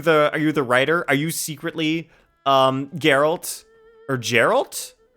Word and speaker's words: Geralt: Okay, so Geralt with a hard G.